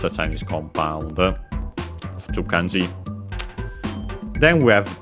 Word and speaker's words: を: Then we have the object particle o, written as wo and pronounced as such in careful speech and also singing. But yeah, you'll often hear it as o instead.